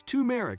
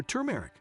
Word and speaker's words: turmeric: turmeric tea every day you pronounce it as tumeric or turmeric anyway it is an all-star spice that packs a punch no matter how you say it turmeric is a ginger-related